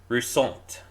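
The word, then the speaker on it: Roussainte: Roussant. You say it like French.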